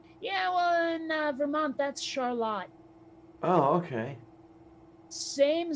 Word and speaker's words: Charlotte: The only thing I can think is it's probably because we're so damn close to Quebec that it got pronounced a little Frenchier.